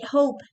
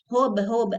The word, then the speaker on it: hope: So you say hope, hope, Don't say hob, I hob.